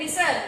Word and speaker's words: listen: Kemudian listen, listen itu mendengarkan. Cara bacanya tanpa T. Listen, ya, bukan listen.